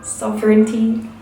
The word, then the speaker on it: sovereignty: Thank you to the person in the comments that told me how you pronounce sovereignty is 1 2 3 sovereignty.